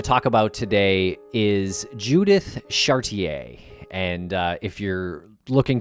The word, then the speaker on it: Chartier: we're going to talk about today is judith chartier and uh if you're looking to google this case her last name is spelled c-h-a-r-t-i-e-r phonetically chartier but we're gonna use chartier here